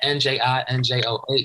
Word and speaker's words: Njinjoh: Njinjoh. The N is silent. Don't forget it.